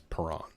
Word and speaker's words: Parent: Is how his last name is spelled Parent, but it's Parent.